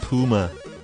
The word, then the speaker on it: Pyuma: Principal Lewis says it's pronounced Puma.